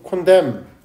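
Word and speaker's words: condemn: MN 컨덴 저 발음 어떻해요? 컨덴 컨뎀는 아니다.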